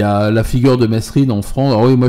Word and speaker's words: Mesrine: J'ai bien connu François Bess, il disait Mesrine. Ouais, c'est ça. Grand aussi, c'est comme ça qu'il l'appelait. Tout à fait. Et il disait Mesrine. C'était rare qu'il prononce son nom, il disait généralement Le Grand. Le Grand, ouais. Mais quand il disait son nom, c'était effectivement Mesrine. C'est Mesrine.